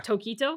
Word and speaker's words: Tokito: So the emphasis is on to. Yeah. Tokito? Yeah, Tokito. Okay. Not Tokito. Don't say it too fast.